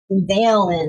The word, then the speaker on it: Dalen: Dalen is how you say his name.